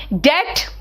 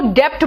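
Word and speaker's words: debt: bright colour नहीं है subtle colour है ना डेट बेटा कलो डेप्ट बोलते इट इ नॉट डेप्ट इट इज डेट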